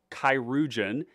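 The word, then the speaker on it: Chirurgeon: go in Goblin uh kirugen is the pronunciation of this uh it's a French word it's an old French word for surgeon um we're definitely playing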